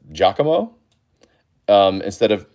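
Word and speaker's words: Giacomo: Also, I found out the other day this guy's name is pronounced Jakamo um instead of Jakomao.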